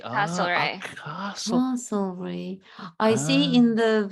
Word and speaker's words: Castlereagh: It's spelled Castle and then R-E-A-G-H. Castlereagh. Castlereagh.